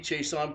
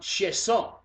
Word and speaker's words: Chiasson: And when he played in the States, Chason was how it's pronounced. He came back to Canada, pronounced Chiasson, like Chiasson, and then goes to Calgary, and now he's in Washington, and they're calling him Chason again.